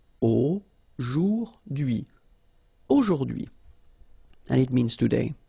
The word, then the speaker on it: aujourd'hui: So the first one, A-U-O, jour, and then dui. Okay, H is not pronounced, so you only get this dui thing. Aujourd'hui, aujourd'hui.